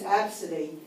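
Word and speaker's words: Abcde: Her name's Absidy, and it's spelled A-B-C-D-E.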